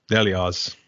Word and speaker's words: Nelioz: Oh, well, I pronounce it Nelioz, but you can do it any way you want, really.